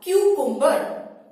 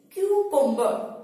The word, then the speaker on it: cucumber: Kyu-kum-ber, Kyu-kum-ber, Kyu-kum-ber।